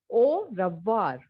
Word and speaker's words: au revoir: Au revoir. AU is O, okay?